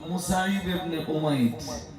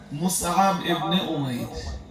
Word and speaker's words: মুসআব ইবনে উমাইর: যার ভিতরে বিখ্যাত ব্যক্তি হলেন হযরত মুসাইব ইবনে উমাইর। মুসাইব ইবনে, হ্যাঁ চল ঠিকঠাক উচ্চারণ করলে কেমন হয় জানেন? মুসআব ইবনে উমাইর।